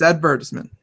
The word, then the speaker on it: advertisement: That word is now always advertisement because that just makes more sense. I told her that she had the accent of the wrong syllable. It's advertisement.